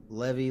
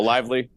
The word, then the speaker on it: Lively: of their players I think it was like Levy Levi the second or I'm not I'm getting his name wrong I know oh Lively Lively there we go yeah that's that's definitely